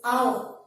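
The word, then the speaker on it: hour: It is written as H-O-U-R. But the pronunciation is our. The pronunciation is our. So, pronunciation starts with the sound A.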